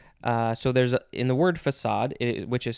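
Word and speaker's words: façade: which is spelled f-a-c-a-d-e if it didn't have that little symbol you would probably want to pronounce it but that's not how it's pronounced because there's a little symbol called a cedilla under it and that means that it you have to pronounce it differently than the normal way what are some other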